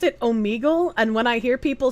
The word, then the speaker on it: Omegle: to be real with you Chad I've always pronounced it Omegle and when I hear people say omegal it makes me think of uh [ __